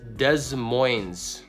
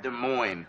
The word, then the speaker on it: Des Moines: yo number six uh Des Moines common popular pronunciation oh it's French duh so it's a Des